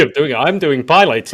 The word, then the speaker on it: Pilates: Pilates, and my mum was like, "That's No, not how you say it." not plate. It's not plates. It's not pilates. It's Pilates.